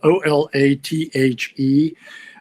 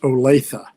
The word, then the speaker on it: Olathe: you to pronounce the name of a city it's spelled o-l-a-t-h-e uh it's pronounced olathe uh i once heard garrison keeler who used